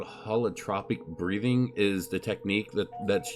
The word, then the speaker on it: Holotropic: Holotropic Breathwork, I believe is what it is.